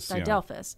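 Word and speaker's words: didelphys: I pronounce no that's and I just completely butchered it it's d delphus delfus d i d l p h Ys that's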